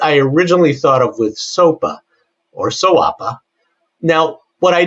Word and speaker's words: SOAPA: And so as we're looking at SOAPA, and tell me if I'm pronouncing that right in 2025, soapa. Soapa. Soapa. Soapa, not soapa. All right. Well, I kind of like sawa, but you know it's like kind rhymes with koala, right?